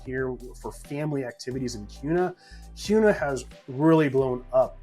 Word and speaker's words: Kuna: kuna so this is this town here is pronounced kuna not kuna as a lot of people might pronounce it